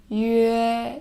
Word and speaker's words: yue: dots on the top, then you first pronounce this one, the yu sound, and then in the end is the a sound. So yue, your lips is change, how you change your lips is from the center as a circle and